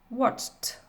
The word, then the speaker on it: watched: Ici, dans ma terminaison ED, va avoir le son T. Donc ça donne walked, stopped, watched.